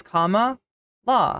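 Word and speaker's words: Kamala: are they getting me it's K La it's comma law it's very easy going on in this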